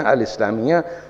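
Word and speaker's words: الإسلامية: और जमात इस्लामी भी इस्लामियत ते साइलेंट होता है अरबी में इसलिए इस्लामिया अल इस्लामिया जो अख्वान मुस्लिमीन का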